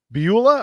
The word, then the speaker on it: Beulah: Is it Beulah, or how do you say Beulah?